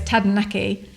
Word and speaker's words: Taranaki: have a problem rolling your r's as in tadanaki replace the r in tadanaki for d so imagine that you're saying tada and then say it quickly so it's tadanaki it sounds exactly the same isn't that brilliant